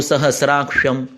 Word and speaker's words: सहस्राक्षम: सहस्राक्षम क्ष है, क्ष जो होता है ये क और श होता है, क और श नहीं होता है। सहस्राक्ष नहीं होता है, सहस्राक्ष होता है।